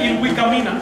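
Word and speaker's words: Ilhuicamina: Se pronuncia Ilvicamina, lo escribe como quiera.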